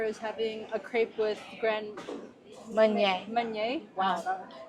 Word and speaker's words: Grand Marnier: What I remember is having a crepe with Grand Meunier. Wow, it's spelled really weird, but Yeah, but it's like Grand Marinier. Yeah, Grand Marinier, Grand Meunier.